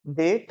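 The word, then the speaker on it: debt: दिखे रहा है आपको ये बी जो है ना वो साइलेंट है बी को स्पेल किया जाता नहीं है क्या बोलेंगे हम लोग डेट ठीक है अब ये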